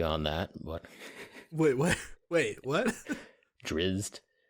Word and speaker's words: Drizzt: Drizzed. We just pronounce drizzed slightly differently. Slightly. That's all. It's not drizzit.